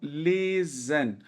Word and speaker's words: lesen: Lesen. Perceba, aqui eu já tenho o S no meio da palavra, porém entre duas vogais. Então, lesen, som de Z.